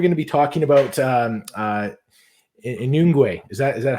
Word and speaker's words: Nyungwe: Okay, so today we're going to be talking about Inungwe. Is that how you pronounce it? This is for me. It's perfect. I think it's Nyungwe Forest in Rwanda.